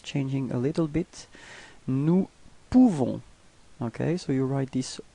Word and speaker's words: nous pouvons: Nous pouvons. Okay, so you write this OU and you pronounce it OU. Okay, so if you combine it, you nous pouvons. Okay, you don't pronounce the final S.